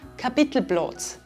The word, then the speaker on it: Kapitelplatz: Or with “Kapitelplatz”, which becomes “Kapitelblotz”.